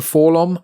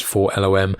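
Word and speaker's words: 4-LOM: will probably end up calling him fulham even though he's not really in these comics that much going forward um just because fallon is easier to say but i think the maybe correct pronunciation is for lom but you would recognize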